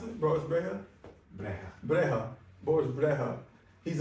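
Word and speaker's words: Brejcha: ago I went to a a concert Boris breta is that how you pronounce it Boris Brea Brea Brea Boris Brea he's a techno DJ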